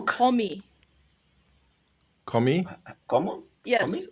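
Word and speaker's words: 거미: it's komi. Komi? Como? Yes, Komi? like the word gummy in English, but it's pronounced with o. So, komi.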